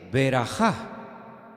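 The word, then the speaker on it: ברכה: una palabra que suena muy parecida que es beraja bejor beraja bejor es primogénito y beraja qué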